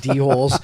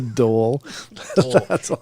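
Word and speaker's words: dhole: they can blend in they don't look like d-holes the d-hoes don't know where to attack um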